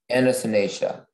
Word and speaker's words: Anatinacea: Anatinacea.